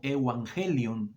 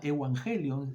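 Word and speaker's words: εὐαγγέλιον: Originalmente se la dice como Evangelion, es la pronunciación en griego, y era una palabra que se utilizaba en ese tiempo.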